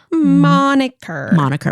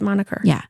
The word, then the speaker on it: moniker: a drink at the moner moniker which I was going to call it the monu and I'm like that is not right nope it's moniker yeah for a second I